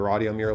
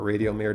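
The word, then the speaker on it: Radiomir: the spoke to the rod yamir line or radio mayor depending on how you want to pronounce it again screw down nice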